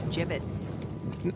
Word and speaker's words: gibbets: here hey look avery had some gibbots left over gibbets what pronounced gibbets are you sure yeah